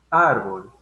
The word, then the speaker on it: árbol: Árbol. Si se dan cuenta o si repetitivamente lo pronuncian, árbol, ¿no? Árbol, la mayor fuerza de voz la va a llevar en AR, en la sílaba AR.